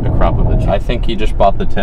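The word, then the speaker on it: Akrapovič: And I know it's confusing if you saw the Akrapovich tips, and yes, that is pronounced Akrapovich.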